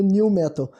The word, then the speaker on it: Nu Metal: Muitas vezes escrito como Nu Metal, mas normalmente pronunciado como New Metal, né?